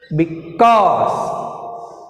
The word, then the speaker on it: because: because, because, because, because. The difference see here, first syllable and second syllable. Now I am pronouncing second syllable. In because word has two syllables.